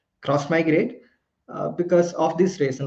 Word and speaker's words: Xmigrate: like pronounce it as x migrate we pronounce it as cross migrate uh because of this